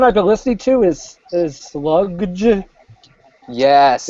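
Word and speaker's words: Slugdge: The one I've been listening to is Sludge.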